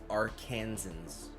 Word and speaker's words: Arkansans: For the record, it's pronounced Arkansans.